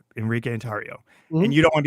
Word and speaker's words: Enrique Tarrio: birth certificate is Enrique tario it is it's Enrique andario and you don't want to be called by anything else but Enrique atario that's you could call me Henry Enrique if